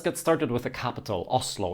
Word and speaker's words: Oslo: It's basically the beginning of a W sound.